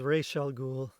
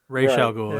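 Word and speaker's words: Ra's al Ghul: decided uh is it I've never known exactly how to pronounce his name because I've heard it a hundred different ways I've always said roag I know Batman the Animated Series told us it was Rell ghoul raell ghoul yeah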